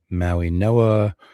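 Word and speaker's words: Mauigoa: Okay, so um here at three Arizona is going to go Francis Maui Noah. Um apparently the G is pronounced with an N, so that's why I'm saying it that way.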